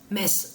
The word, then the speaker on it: Metz: ça parce que on sait que quand on prononce parce que ça se dit mince Metz quand on dit la messe tout ça Metz